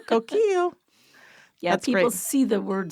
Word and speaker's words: Coquille: pronounced Ki K yeah but you don't say the L's and so like my